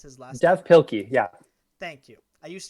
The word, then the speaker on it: Pilkey: dave uh oh i how do we uh pronounce his last death pilky yeah thank you i used to read him